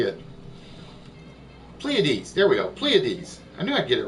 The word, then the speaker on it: Pleiades: Pleiades, there we go, Pleiades.